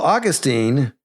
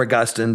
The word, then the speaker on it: Augustine: Well, Augustine or Augustine depending how you pronounce it or choose to pronounce it. I think both are are acceptable.